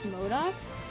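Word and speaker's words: MODOK: one to the heroes modoc to pronounce modoc i always thought it was matic so now we're playing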